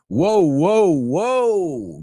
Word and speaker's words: whoa: So the first one, WHOA, la H muda, como when, where, why, pues igual. Whoa.